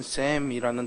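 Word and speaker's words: שֵׁם: 이 본문에서 이름이라고 말하는 이 단어의 히브리어의 원래 발음은 셈이라는 단어인데, 이 말은 어떤 사물이나 사람의 호칭뿐만이 아니라 그것의 속성을 나타낼 때도 쓰는 말입니다.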